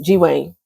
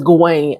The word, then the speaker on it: Gawain: G1 and Daron, G-Wayne, and his name is Gawain.